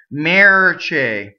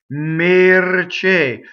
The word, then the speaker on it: mercè: Both of these E's in this word are AA. Right? So the first, I hear a lot of rhymes with the English vowel when people sing it, and it's wrong. Chair or air. So I hear mercè, right? And this is AA, mercè.